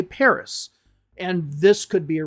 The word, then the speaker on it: Paris: So a lot of words in French just don't pronounce that last S. Like Paris, for example, and in English we say Paris.